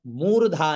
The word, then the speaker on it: मूर्धा: ये विशेष ध्यान रखिएगा मु दीर्घ है तो उसको दीर्घ ही उचार हो मूर्धा मूर्धा न